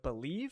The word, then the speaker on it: BLEAV: Just remember to use promo code BELIEVE. That's BLEAV.